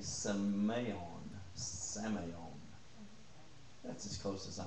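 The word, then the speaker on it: semeion: i o n but it's PR pronounced with a long a seon samon that's as close as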